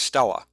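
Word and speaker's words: stelae: But I have always pronounced it Stele because the AE makes it sound like almost an AY to me, Stele. So I don't know. The guys at Ulisses Spiele like to pronounce it as Stella.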